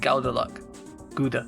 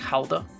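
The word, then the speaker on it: Gouda: I just realized you said Gauda. Gauda. Or as it's pronounced, like, properly, which is more like Hauda. Because it's a weird pronunciation because it comes from another country.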